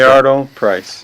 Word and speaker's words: Milliardo Pryce: How do I pronounce it correctly? Milliardo Pryce.